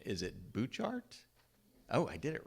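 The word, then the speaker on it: Butchart: And we did a tour of, and somebody's going to correct my pronunciation, is it Bouchard?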